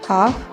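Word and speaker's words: half: यहाँ भी L silent रहेगा, हाफ, हाउस।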